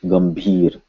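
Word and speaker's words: गंभीर: So we look it up in the dictionary, and this is indeed a M sound. So this would be pronounced Gambhir.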